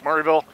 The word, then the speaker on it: Maryville: Like Bull, Maryville's Murrayville, stuff like that. So it's like, if you want to fit in with the locals and you're not from Tennessee, you got to pronounce the cities right.